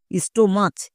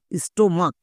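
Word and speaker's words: stomach: সিএইচ এর জন্য কো উচ্চারণ হয়েছে, অনেকে একে ভুল করে চো উচ্চারণ করে দেই, স্টোমাচ এরকম উচ্চারণ করে। এরকম উচ্চারণ করা চলবে না, স্টোমাক হচ্ছে এর সঠিক উচ্চারণ।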